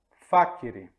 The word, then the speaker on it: facere: Por exemplo, aqui na palavra facere. Estão vendo? Facere. O acento está no A, é uma palavra proparoxítona.